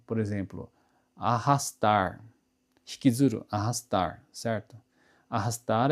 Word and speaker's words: arrastar: Eh, quando o r se encontra no meio da palavra, né, com uma R só, a gente pronuncia com o ra, certo? Agora, eh, tem uma outra indicação importante que se a letra R for acompanhada duplamente, né, RR, né, aí ele vai ter uma outra pronúncia, um outro som.